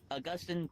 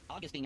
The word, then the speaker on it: Augustine: You are basically saying, oh, because that Augustine taught about predestination, that means Calvin now pretty much disagrees with him in all the things.